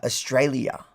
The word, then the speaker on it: Australia: And then she goes, "You never say the L I the L and the I Australia."